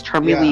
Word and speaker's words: Charmeleon: It's Charmeleon. Yeah, that'll be whatever. Jeez, you guys pronounce stuff so weird.